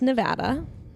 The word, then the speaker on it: Nevada: my first driver's license was from okay it's pronounced Nevada for people who call it Nevada you're wrong